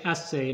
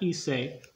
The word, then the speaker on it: essay: Essay, vowel E, two consonants, SS, vowel A. So we say essay, not essay.